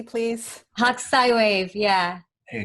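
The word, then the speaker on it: Hokusai: actually a print, one of many, from Katsushika Hakusai. Reiko, did I pronounce it correctly? Reiko's on mute. Very close, very close. Okay, can you pronounce it correctly, please? Hakusai wave, yeah.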